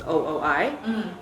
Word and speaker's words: Ooi: in the US because it's ooi and they always go oh boy or they would just never pronounce it and then it only happened when I went to Paris that I realized hey my last name sounds like we like yes and French and yes is a